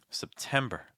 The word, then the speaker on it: September: sound like IST August September the September my big suggestions here are make the first syllable very weak and finish with an R sound with lots of breath it's like September September October October for